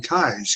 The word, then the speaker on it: Keyes: And then, and as time went on, I learned about consciousness through a great author and mentor of mine, Ken Keyes, K-E-Y-E-S, like spelled like keys.